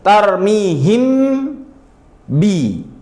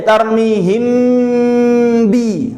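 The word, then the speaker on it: تَرْمِيهِمْ بِ: Tarmihim bi itu namanya cara baca izhar. Tapi bukan seperti itu cara bacanya. Ini yang benar adalah ikhfa. yaitu kerja sekali hasil dua. Bi tuh gak usah mangap-mangap mulutnya. Sekali tarmihim bi tuh namanya ikhfa.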